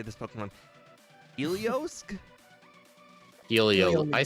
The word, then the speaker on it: Heliolisk: Yeah, if you look after the Helio, there's an L, so it's Heliolisk. Street name Heliolisk.